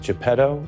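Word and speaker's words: Geppetto: it's sort of like Pinocchio needs is it japedo is that how it's pronounced yes jetto is his so but but does jepetto also need Pinocchio the Trump trial coverage this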